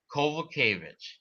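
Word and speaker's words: Kowalkiewicz: carolina calvo kevich or because the w's are pronounced as v's and the and the ch is pronounced as a ch it's carolina kovalkavic okay and carolyn kovach yeah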